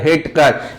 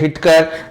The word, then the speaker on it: Whittaker: हिटकर, इसकी स्पेलिंग जरूर W से स्टार्ट हुई है, WHITTAKER, लेकिन वहां W जो है वो साइलेंट है, इसलिए अपन उसे पढ़ेंगे W.H. हिटकर ने इसको जो है 5 और अन्य टाइप में बांटा।